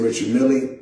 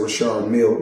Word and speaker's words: Richard Mille: Now, I must let everybody know, because everybody pronounce it different. Some say Richard Mille, myself, I say Richard Mille, because that's what I was told in 2012 when I first purchased the watch.